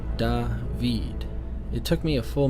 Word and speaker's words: David: and first grade David he answered pronouncing the word funny he said dah veed it took me a